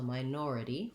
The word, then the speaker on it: minority: and then my nor the nor is a stressed syllable so minority four syllables this is a case where the or letters do say the or diphthong so you may want to start building the word from or or nor minor minority it's different than the word minor in the word minor the or says er and it has first syllable stress so minor versus minority